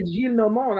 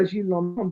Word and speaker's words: Gillenormand: French pronunciations because well, you know why Gillenormand? I told you why Gillenormand, because he lives in Normandy. Yes. That's also Normandy.